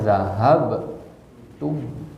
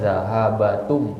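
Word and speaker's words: ذهبتم: Ya karena di kertas yang kita bagikan kemarin itu kita bacanya zahab tum. Sukun dulu banyak kan, zahabatum. Jadi nggak boleh zahabatum meskipun asal katanya zahaba.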